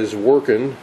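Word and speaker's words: Zworykin: one that I'm familiar with it's television by zorin that's how you pronounce that Orin and Morton the warin worked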